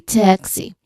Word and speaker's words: taxi: So, it should be taxi. Taxi. You relax your jaw um slowly. Taxi. Not taxi.